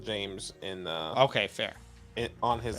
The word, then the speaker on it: James: Okay, why don't we do he says not offended, but it's pronounced James.